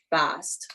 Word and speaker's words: Bast: about bast rem uh rhymes with mast.